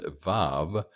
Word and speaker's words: Vav: The letter B, Vet, and Vav are both pronounced as a V as in vine.